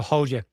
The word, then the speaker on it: Hodja: The J-A is pronounced Y-A, apparently. Someone's going to correct me. So, Hodja.